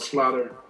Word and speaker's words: Slater: Little town called Slaughter, Mississippi. And I think it was a mispronunciation on the part of country folks living down there because it's spelled every bit like Slater. Yeah. S-L-A-T-E-R. Somehow they got Slaughter out of that.